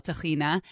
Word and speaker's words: tahina: it is is chickpeas what we call tahina but israelis call tahina salt and lemon that's